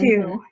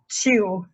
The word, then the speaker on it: two: So the secret here is the T, like Hmm. two, not chew.